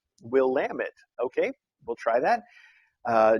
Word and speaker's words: Willamette: but there's a there's a pronunciation guide we'll lamb it will lamb it okay we'll try that